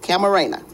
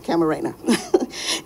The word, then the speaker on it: Camarena: His name was Kiki His name was Kiki Camarena. That's it, Camarena. Okay, I think I said it right that time, Camarena.